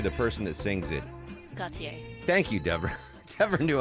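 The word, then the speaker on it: Gotye: How do you pronounce his name? Gautier.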